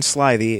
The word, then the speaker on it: slithy: to pronounce slithy Toves the i' in slithy is long as in arrived and Toves is pronounced